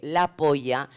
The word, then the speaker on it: La Polla: Realmente no se dice así, es La Pol o algo así.